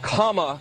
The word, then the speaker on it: Kamala: say one quick thing her name is pronounced comma like the punctuation mark look kamala okay okay seriously i've